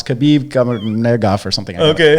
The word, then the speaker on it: Nurmagomedov: Jesus, I'm thinking of his last name that I can never pronounce. Khabib Nurmagomedov or something. Okay. Nurmagomedov.